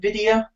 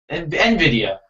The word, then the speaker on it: Nvidia: is nid nid how do you say it Nvidia Nvidia Nvidia Nvidia yeah Nvidia Shield got on stage